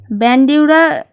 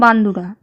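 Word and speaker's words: Bandura: ব্যান্ডিউরা এটা English pronunciation, আর যদি বাংলায় বলো বান্দুরা।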